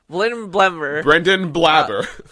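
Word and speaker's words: Brendan Blaber: Brendan Blabber.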